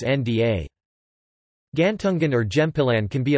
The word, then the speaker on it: ᬦ᭄ᬤ: For example, if the letter na is appended with gantungan da, the pronunciation becomes nda.